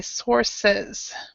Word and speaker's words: sources: an S sound the es s is still pronounced so we'd say sources sources sources yeah so so many times a